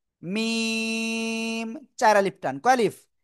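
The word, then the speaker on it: م: অক্ষটা উচ্চারণ হয় না দুই ঠোটের কি ভিজা অংশ থেকে এরপরে যে অক্ষরটা শিখবো সেই একই জায়গা থেকে উচ্চারণ হবে এই যে খেয়াল করবেন সবাই এই যে অক্ষরটা আর এ অক্ষরের নাম কি জানেন এটা শুকন জায়গা থেকে উচ্চারিত হয় দুই ঠোটা শুকন জায়গা থেকে মিম চার আলিফ টান কয়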